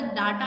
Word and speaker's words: data: सो यहाँ पर जब हम DATA की बात करते हैं तो that is called डेटा। The right pronunciation of this word is डेटा, नॉट डाटा।